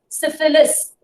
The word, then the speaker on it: syphilis: Syphilis, SYPHILIS. Pronounce it clearly.